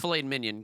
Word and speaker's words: filet mignon: you right now that filet mignon is not one of them i believe that and it's pronounced filet minion get it right um minion fillet minion pork